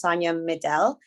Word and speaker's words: Sonia Medel: by she her and my name is pronounced sonya middle and i'm speaking to